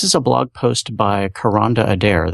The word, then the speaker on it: Kronda: This is a blog post by Karonda Adair. That's spelled Kronda. It's pronounced Karonda.